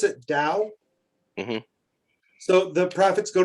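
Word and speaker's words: DAO: And the profits go to do you pronounce it Dow?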